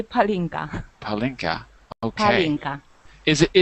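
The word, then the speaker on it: pálinka: Well, I got the name wrong. What was the name? Palinka or Horinka. Palinka.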